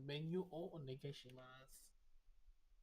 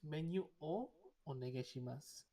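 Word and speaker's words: メニューをお願いします: So instead, and don't people always misread it as menu or onegaishimasu, not o, not double o. People always mistakenly read like that. So it's menu o onegaishimasu.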